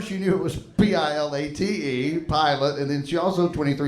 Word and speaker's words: Pilate: like when you say pilot, it sounds like airline pilot. So you might think it's spelled P-I-L-O-T.